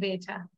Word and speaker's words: better: আমরা better মানে আর এর উচ্চারণটা করি না couldn't be better. Just আরটা silent থাকবে আর কি হ্যাঁ আচ্ছা তাহলে